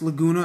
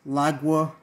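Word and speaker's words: Laguna: and the other time I I mispronounce lagona as laga but apologize for that so so yeah this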